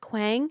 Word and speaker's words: Kuang: Kuang. Mm-hmm. Is that who did the Poppy War? And Babel. Right. Yeah. Am I pronouncing that right? I think it's Kwong. Yeah. Kwong.